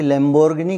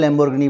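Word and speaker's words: Lamborghini: जो बोला जाता है, हमारे यहाँ लैम्बोर्गिनी बोलते हैं, वो लाम्बोर्गिनी है उसका प्रोनाउंसिएशन, जिसको मैं भी बहुत अच्छे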